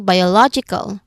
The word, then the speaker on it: biological: So um when it comes to eal we have an example biological biological there are five syllables in total.